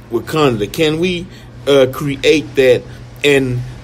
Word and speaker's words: Wakanda: I'm saying it right, Wakanda? Mm-hmm. Wakanda. Wakanda.